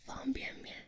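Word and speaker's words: 方便面: 然后我妈妈说了，应该是方便面，但是你姥姥的口音不标准，所以就是方便面。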